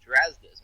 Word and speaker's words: Strazdas: It is Strazdas, but you're pretty close, a lot closer than a lot of other people.